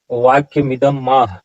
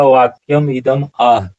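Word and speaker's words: वाक्यमिदमाह: यहाँ वाक्यम इदम माह, वाक्यम इदम माह ऐसा उच्चारण नहीं होगा। उच्चारण क्या होगा? वाक्यम इदम आह।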